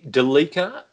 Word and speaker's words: Delica: So you're going the Delica, as in Celica, rather than Delica Celica. I think that's how the enthusiasts pronounce it.